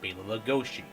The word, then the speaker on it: Bela Lugosi: Almost as long as it took when I found out that Bela Lugosi is actually supposed to be pronounced as Bela Lugosi.